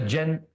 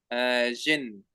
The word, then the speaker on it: jinn: You still have these tiny, you know what a jinn, you know what a jinn is?